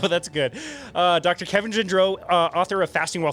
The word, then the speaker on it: Gendreau: it right oh that's good uh dr kevin gindreau uh author of fasting while furious how he